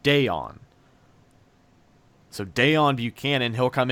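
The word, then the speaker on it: Deone: deon buchanan now it's spelled dion but it's pronounced deon so deon buchanan he'll come in play i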